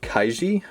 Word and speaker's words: Kaiji: too much in the future then we have kaiji that's how you pronounce it gambling manga picked it up recently